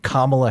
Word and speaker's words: Kamala: could very easily vote for Kamala Harris or Kamala Harris let me pronounce it correctly mhm or or Donald Trump